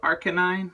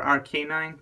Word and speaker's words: Arcanine: to show you is the new Arcanine or rc9 depending on how you pronounce it um this little guy